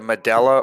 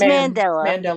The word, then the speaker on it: Mandela: i'm saying it right the medela or the mandela which is it it's it's mandela okay the mandela effect